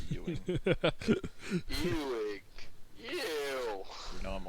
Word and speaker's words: Ewing: yeah, it's literally EWING. Yeah, it's literally a verb for being gross.